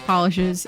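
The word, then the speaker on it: Pahlish: Polish, but it's spelled P-A-H-L-I-S-H is very good.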